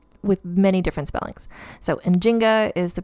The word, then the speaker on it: Njinga: write her name with many different spellings so in Jinga is the pronunciation that I'm using it's what was used